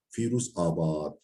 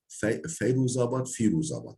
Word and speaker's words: Firuzabad: hiye nisbetu ila Firuzabad bi fethil fa'i ve kesriha. Firuzabad iki türlü de okunuyor. Firuzabadi'nin nesebi daha doğrusu bu zaten nesebi yani Mecdudi'nin nesebi Firuzabadi diye meşhur olmuştur. Bu da Firuzabad'da nispetledir. Firuzabadi. Fethil fa'i ve kesriha. Feyru. Yani fanı fethası ve kesresiyle ve hiye medinetu cur fi cenubiyi Şiruz.